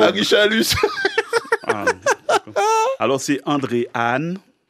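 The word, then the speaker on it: Haan: Alors, c'est André Anne. Anne s'écrit H-A-A-N.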